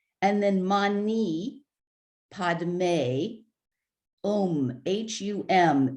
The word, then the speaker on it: hum: then mani padme um h-u-m it sounds when you're hearing it chanted it sounds like ohm again but it's actually hum and um it is